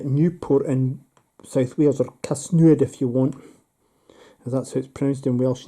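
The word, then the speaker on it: Casnewydd: real van taken Newport and South Wales or Casino if you want is that so it's pronounced in Welsh and that's the blue and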